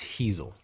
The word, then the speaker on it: Hezel: pitching from driveline baseball thanks for just pronouncing it for me so i don't get out it's hazel heazel yes there we go one comment on uh